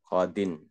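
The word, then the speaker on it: قاضٍ: Qadin. Dibacanya tetap qadin, ja'a qadin.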